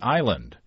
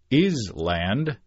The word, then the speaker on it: Island: my own grade school book report about Monkey Island which I pronounced is land during the whole report only to be corrected